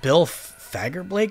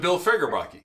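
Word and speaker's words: Bill Fagerbakke: Wait, Bill Fagerblake is in this? What's his name? Bill Fagerblake. No, it's not. Yes, it is. Look. Look. That's not how you pronounce it. Oh, Fagerbake.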